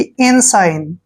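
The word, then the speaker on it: ensign: एस आई जी एन एन से पहले जब भी जी आता है जी वहां पर साइलेंट होगा और एस आई का उच्चारण करेंगे हम साई ऐसे और एन को पढ़ेंगे न साइन यानी कि इन साइन इनसाइन का मतलब होता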